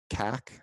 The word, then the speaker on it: CAC: customer acquisition you'll see the term cac that's how this is pronounced it stands for customer acquisition cost and that's basically like